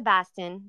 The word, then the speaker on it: Boston: to set up the I went to Baston that's how they say it there yeah Bast say water um so I went